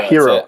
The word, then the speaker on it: Hiro: Do you guys pronounce it Hiro? Yeah, Hiro.